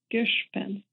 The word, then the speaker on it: Giszpenc: your last name I rhymes with fish and with fence Gish pen Gish pen G Pin thank you